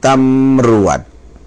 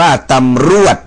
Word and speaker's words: ตำรวจ: ครับ ตำรวจ นะ ครับ อ่า ตำรวจ นะ ไม่ ได้ อ่าน ว่า ตำรวด นะ ครับ อ่าน ว่า ตำ ตำรวจ นะ นะ ต่อ ไป นะ